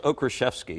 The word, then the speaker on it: Okraszewski: Now let's bring in Okraszewski. Did I pronounce that right? That's good, John. Did I do it right? Close. Okraszewski is actually the Polish pronunciation.